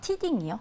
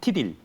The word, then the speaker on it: T딜: 티딩이요? T딜.